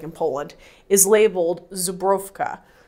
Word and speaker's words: Żubrówka: know what it's like in poland is labeled zubrovka like my polish pronunciation so just a little bit of trivia